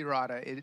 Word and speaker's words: errata: How do you pronounce it? It's the errata.